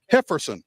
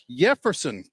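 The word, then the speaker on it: Jefferson Caro: Hefferson with an H. Why? Jefferson. Caro. There we go.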